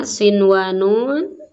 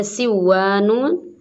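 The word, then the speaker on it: صِنْوَانٌ: Kemudian ini juga sama ya, sinwanun tidak boleh dibaca siwanun.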